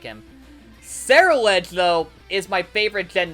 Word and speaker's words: Ceruledge: Like, I love Ceruledge, because that's how you say it, right? The anime says Ceruledge, not Ceruledge, but yeah.